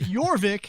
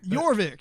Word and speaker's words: Jorvik: Jorvik. Yeah, there's a J. I think it's pronounced with a Y, though.